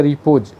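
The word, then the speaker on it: repose: रिपोज, sorry इसमें spelling mistake थोड़ा सा हो गया, RES इसमें नहीं होना चाहिए, रिपोज, या इसका सही उच्चारण आप समझिएगा रिपोज।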